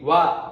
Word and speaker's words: は: When we writing, it's exactly HA, ha, though we pronounce wa.